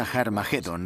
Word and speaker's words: Har Magedón: De hecho, en las primeras versiones del Nuevo Testamento escritas en griego, Armagedón tiene una aspirada al principio, que significa que se pronuncia con H inicial. Por tanto, originariamente era Har Magedón y podemos pasar de Har Megido a Armagedón muy fácilmente.